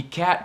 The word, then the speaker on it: cat: Fat e cat como adjetivo e substantivo nunca podem se reduzir esse som do A, você tem que pronunciar